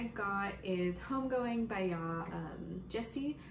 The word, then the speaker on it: Gyasi: The next book I got is Homegoing by Yaa Gyasi, I believe is how you pronounce her last name.